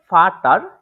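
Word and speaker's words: Vater: হচ্ছে বেচা বেসা ঠিক আছে তারপরে যেটা আছে ফাটার এটার উচ্চারণটা হচ্ছে ফাটা ফাটা এখন এটা তো শিখলাম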